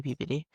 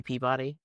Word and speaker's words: Peabody: If he's from New England, he'll say PBD. I mean, okay. Yeah. He was raised he was raised in mass. Oh, yeah. He'll say PBD cuz anyone from any mass hole will know it's PBD. They'll argue with you. If you say Peabody, they'll go off.